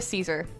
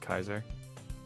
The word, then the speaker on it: Caesar: have to say Julia Caesar anyway um honestly you're even worse than me sometimes I'm it's pronounced Kaiser what it's pronounced Kaiser